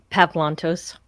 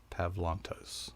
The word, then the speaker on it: Pavlantos: said it it's probably it's the softer sound of the a it's not it's not